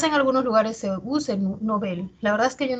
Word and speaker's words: Nobel: Eso pasa, por ejemplo, con Nobel, que nosotros muchas veces pronunciamos Nobel y no se escucha que se pronuncia Nobel, ¿no? Sin embargo, si verificamos en el diccionario panhispánico de dudas, esa palabra, su origen es aguda. Esa palabra es aguda, o sea, la pronunciación debería ser Nobel.